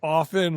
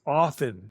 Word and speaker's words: often: And we say often without the T. Why is there a T there? But for you, it's there is a T there. There is a T there for me. So, I don't know what to tell you without there's no T. It's often.